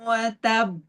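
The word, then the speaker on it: وتب: Jadi begini ya. Cara bacanya tabbat yada abi lahabin watab. Ah watab. Jadi agak ditahan ya, Ustaz ya.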